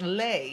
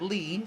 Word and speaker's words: Leigh: for answering the questions my name is pronounced lei hi Leigh Thank You Leigh sorry I pronounced it lean so dangerous Leigh Leigh